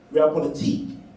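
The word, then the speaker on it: realpolitik: or by virtue of real politic real politique that's right pronunciation real polique do we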